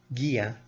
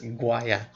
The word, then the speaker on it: Gia: Instead of pronouncing it properly as Gia, she pronounces it as Guaya.